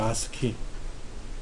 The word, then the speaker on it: ASCII: 아스키. ASCII라는 아스키. 그냥 우리말로 그냥 아스키라고 읽어요. 콩글리시로.